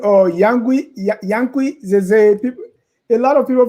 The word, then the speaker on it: Zaza: For them, Zaza is. But you know, I remember when I went for training at finance, my professor asked me how I got from Z-A-Z-A. In essence, he said it should be Zaza.